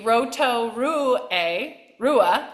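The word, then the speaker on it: Rotorua: Kelly Chuck Norris rot to New Zealand um pronounced thank you Roto Ru Rua Roto Ru um yes trains with sulur City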